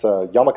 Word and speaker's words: jamaica: It's basically spelled like Jamaica. It's Yamaka, or Yamaka juice, and that's delicious.